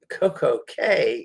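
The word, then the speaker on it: CocoCay: head down there again tomorrow tomorrow we're in coco k interestingly enough the c-a-y for most bahamian islands is key it's pronounced key but coco k is pronounced k i'm not sure why but smell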